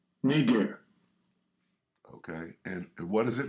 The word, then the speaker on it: Niger: Here's how you say it, right? Not me. I didn't make it up. Strong's G 3526. Niger. Niger.